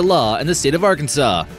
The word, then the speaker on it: Arkansas: accidentally pronounced this state are Kansas you'd essentially be breaking the law in the state of Arkansas ever since 1881 it's been illegal to pronounce the S this is supposed to